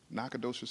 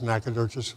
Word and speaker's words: Nacogdoches: Number one, Nacogdoches, Texas.